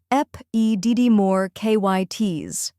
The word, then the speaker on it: epididymoorchitis: The correct pronunciation is epididymoorchitis. First, we have ep, which sounds like the ep in episode.